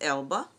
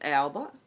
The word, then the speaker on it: Elba: let me take off Miss Elba or Miss Alba e-l-b-a Idris Elba elbow whichever way you want to pronounce it but I've already have